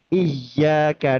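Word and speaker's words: إِيَّاكَ: Iyyaka na'budu wa iyyaka nasta'in. Huruf ya tasdid. Ketika huruf ya tasdidnya itu justru dibacanya tidak tasdid, maka nanti akan terjadi perubahan makna.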